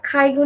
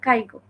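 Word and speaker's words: 介護: Student ভিসাতে আসছে, Japanese পারে, বোঝে, কিন্তু accent অনেকে আছে খাইগো নিয়ে কথা বলে, অথচ খাইগোটাই ঠিকমতো উচ্চারণ করতে পারে না। বলে কাইগো, কাইগো, কাইগো ভিসাতে যারা আসে।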